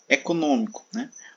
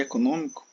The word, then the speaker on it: econômico: Letra C, econômico, Observe que a antepenúltima sílaba de econômico é a mais forte, A antepenúltima. Co é a última, mi é a penúltima e non é a antepenúltima. Então, econômico, ela está aqui a sílaba tônica está na posição proparoxítona, por isso ela é acentuada.